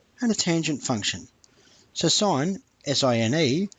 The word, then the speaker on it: sine: So sine, S-I-N-E, shortened to sin, but pronounced sine, is opposite over hypotenuse.